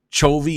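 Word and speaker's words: Chovy: their core of Sascha k-- i believe it's pronounced cho v and deft have the ability to be a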